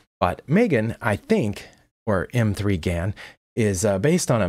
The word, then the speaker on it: M3GAN: as I can tell it is a M3 Gan which I believe is supposed to be pronounced Megan but I'm old-fashioned and